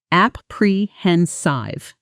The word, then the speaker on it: apprehensive: The stress falls like this. App prehensenive slow first app prehensive now natural a apprehensive how are you feeling about tomorrow's presentation honestly a little apprehensive I've never presented to